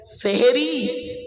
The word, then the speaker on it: সাহারি: ওকে কি বলেন জোরে বলুন শব্দটা সেহরি নয় শব্দটা হল সাহারি দন্তেসয় এখান নয় দন্তেসয় আকা আচ্ছা চলুন তো দেখি সেহেরি আর সাহারির মানেটা কি?